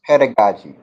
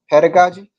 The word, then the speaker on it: pedagogy: Okay, it's pronounced pedagogy. The method and practice of teaching, especially as an academic subject or theoretical concept. So, pedagogy, yep, it's pronounced pedagogy, ladies and gentlemen.